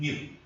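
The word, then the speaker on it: ν: और न्यू को हम लोग प्रोनाउंस करेंगे NEU, न्यू, नॉट NEW।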